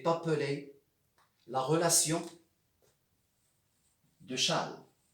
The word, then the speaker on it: Chasles: appeler la relation de charles charles ça s'écrit avec un s chassons mais on dit chan chan d'un mathématicien français